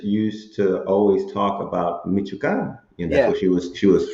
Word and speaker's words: Michoacano: That's how you say it, Michoacano, yeah.